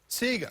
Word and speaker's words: Ceca: It's the Ceca Award. Am I pronouncing that correctly? What is it? Ceca. Ceca.